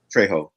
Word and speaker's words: Trejo: Am I pronouncing that correct? Trejo? Trejo, yeah.